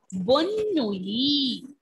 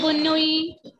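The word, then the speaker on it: bonne nuit: Bonnui. Bonnui. Ending letter T will be silent. Ending letter T will be silent here. Bonnui. Kaise say Bonnui?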